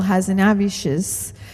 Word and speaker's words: Hazanavicius: And but that Michel Hazanavicius, which took me about a year to pronounce his name.